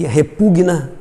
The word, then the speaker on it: repugna: Eles têm a sílaba tônica, o verbo, né? A sílaba tônica é essa vogal com o G mudo aí, tá? Então, é indigna, impregna e repugna, certo?